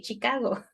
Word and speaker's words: Chicago: studied with Chicago because in Spanish we say Michigan and we say Chicago but it's got the soft Michigan and Chicago okay okay so this